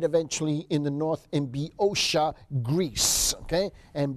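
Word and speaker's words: Boeotia: but he died eventually in the North in biosha Greece okay and biosha was spelled b-o-e-o-t-i-a is how you pronounce it in Central Greece that's where eventually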